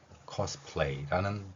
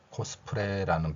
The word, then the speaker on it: cosplay: 기역 뒤에 오, 그리고 받침으로 시옷. 물론 우리말이 아니기 때문에 cause 이렇게 발음해 줘야 됩니다. 피읍은 그대로 표현했고요. 자음이 겹쳤기 때문에 표기를 넣어서 풀 발음을 했습니다. 이제 리을 소리가 한 번 더 나고요. 이렇게 에와 연결되면서 cosplay라는 발음이 되는 것입니다. 그러면 일본인들의 발음이 되면 어떻게 되느냐? 리을이 사라집니다. 그리고 이러한 2개의 모음을 표기하는 원칙이 없기 때문에 코스프레라는 발음을 표현하는 것이죠.